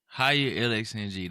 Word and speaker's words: HigherLxng: So first off, how do you pronounce your social handle? So I'm gonna say it like this: it's HigherLxng.